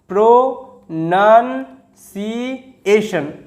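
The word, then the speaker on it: pronunciation: তো লিখে ফেললাম এবং টি আই ও এন শন, শন লিখে ফেলি শন। তো উচ্চারণটা কীরকম হলো, প্রোনাউন্সিয়েশন, প্রোনাউন্সিয়েশন, ঠিক আছে।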